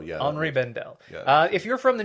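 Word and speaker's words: Henri Bendel: i b n d l yeah so like hry Bendel yeah hry Bendel uh if you're from the New York area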